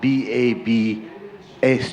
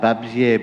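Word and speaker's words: Babsje: somebody many years ago whose name was spelled B A B S J E and I'd have pronounced that Babzier but it was Babs. It seemed like the sound was reversed for the last two letters.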